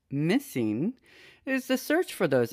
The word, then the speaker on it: MSSNG: with autism today need answers the mssng project pronounced missing is the search for those answers and we're